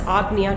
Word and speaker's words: Ajna: as the AGA chakra AJ na a however it's pronounced as AGA chakra AGA chakra is located